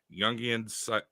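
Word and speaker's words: Jung: go it's hold on youngan like Carl Young I know it's a j but that's how you pronounce it psychology and Analysis and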